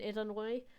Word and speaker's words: Illinois: Illinois, I I really want to emphasize the fact that the S is silent in Illinois.